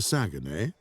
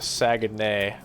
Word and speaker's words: Saguenay: Can you see the old warehouse close to Saguenay?